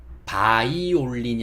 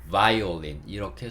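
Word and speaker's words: violin: 이렇게 하는 반면에 보이는 V V V 이런 소리를 해야 됩니다 그래서 지금 보고 계신 단어도 바이올린이 아니고 바이올린 바이올린 바이올린 이렇게 소리가 나게 되어 있습니다 바이올린이 다들 먼지는 아시니까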